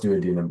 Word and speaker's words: duodenum: down the shame that there's a correct versus an incorrect pronunciation of the word duodenum. And it's pronounced duodenum because, again, you can't change the dead language.